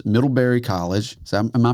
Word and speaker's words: Middlebury: snowboard hall of fame, doctor of humane letters, Middleberry College. Is that am I pronouncing that right?